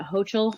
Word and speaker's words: Hochul: Is it Hochul? Kathy Hochul? Yeah.